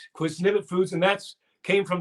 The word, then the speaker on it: Qwiznibet: unique how did you develop that i probably mispronounce it every time i say it say it no you say it it's quiznivit quiz nipit foods and that's came from that poem that